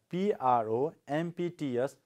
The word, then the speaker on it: prompts: Next word we have P-R-O-M-P-T-S, prompts. See, this P is silent. If you pronounce, no problem, or you can keep this P silent.